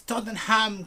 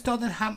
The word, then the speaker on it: Tottenham: No, in London it's called Tottenham. So in this case would be Tottenham Court Road, right? Tottenham. Tottenham. Not Tottenham, never.